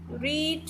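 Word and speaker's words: read: रीड, और third form भी क्या होती है? रीड ही होती है, लेकिन इसको प्रोनाउंस अलग तरीके से करते हैं, रेड बोलते हैं।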